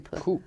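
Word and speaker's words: Plouffe: How do you pronounce his name? Poof.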